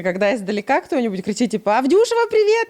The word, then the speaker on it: Авдюшева: Авдюшева, на А ударение.